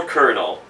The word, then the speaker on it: colonel: what's called a little kernel obviously kernel is spelled colonel i've always had an